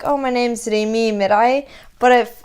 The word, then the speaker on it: Merhi: Merhi. Well, it's weird because my name's Arabic. So if I was like meeting someone who's Arabic, I guess I'd be like, oh, my name's Remi Merhi.